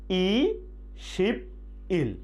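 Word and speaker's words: 이십이일: এখন যদি আমরা 22 তারিখ বলতে যাই তাহলে কিভাবে বলবো ই শিব ই ইল, কিন্তু উচ্চারণ হবে কি ইশিবি ইল, ইশিবি ইল, ইশিবি ইল 22 তারিখ।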